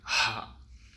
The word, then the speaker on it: ح: இன்றைக்கி நம்ம பார்க்கக்கூடிய எழுத்து அரபியோடைய 6வது எழுத்து ஹா.